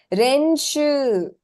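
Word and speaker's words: 練習: Renshu. Renshu. Slightly different. Yeah, Tu. the end Tu. bit is Renshu. the last three syllables are Yes, elongated.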